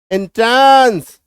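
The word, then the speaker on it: entrance: हेंस tons डांस एंट्रेंस इसको एंट्रेंस भी बोल सकते हैं। एंट्रांस भी कई लोग बोलते हैं। तो दोनों ही हमारा उच्चारण सही रहेगा। बोलो कुछ भी है ना? में दोनों सही है। एंट्रांस भी सही है।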